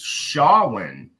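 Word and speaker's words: Samhain: It this has been going on for freaking uh I finally learned how to pronounce the word the right way. It's Shawin is what the the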